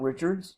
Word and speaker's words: Richards: The second question about Richards, you'll also hear the name expressed as Richard because the story is probably set in Creole, New Orleans, and so you'd have the French pronunciation, just as Mallard can also be pronounced Mallard.